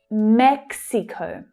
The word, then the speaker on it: Mexico: Watch out for the consonant cluster here in the English pronunciation. You have k, s, x, mex, Mexico. Okay, that last syllable uses the O as in go vowel sound.